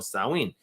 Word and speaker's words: Samhain: were combined with the traditional subject celebration of samhain or sauween the first was for for ferralia a day